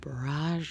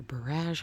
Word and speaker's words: borage: Okay, down here in this pot, this is a whole bunch of borage or barrage, however you want to pronounce it.